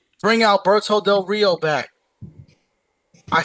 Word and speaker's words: del Rio: Alberto del Rio del Rio roll your Rs.